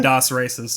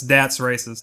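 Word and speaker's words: Das Racist: no for a long time I call it dos racist and I was completely wrong it's dat racist and if you wanted a context for that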